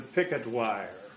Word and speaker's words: Purgatoire: You would not learn to pronounce the Purgatoire River as the picket wire.